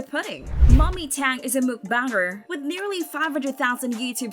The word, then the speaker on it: mukbang: have no idea how to pronounce it it's pronounced book bong or mukbang mukbangers make a ton of money some of